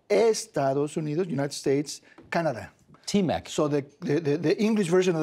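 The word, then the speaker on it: T-MEC: No, we call it something in Spanish that is much more pronounceable. What do you call it? TMEC, TMEC.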